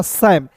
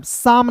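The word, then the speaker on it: Sam: फिर देखिए दोस्तों यहाँ पे एस ए एम को क्या पढ़ेंगे, एस ए एम को पढ़ेंगे दोस्तों सैम, शाम नहीं पढ़ेंगे, ठीक है।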